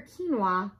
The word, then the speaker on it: quinoa: psychic pterodactyl struggles with psoriasis q is for quinoa we enjoy quinoa and quiche by the key